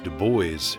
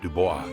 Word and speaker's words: Dubois: Yeah, so this is the signage for, it's either pronounced in American English, Dubois, or in French pronunciation, Dubois.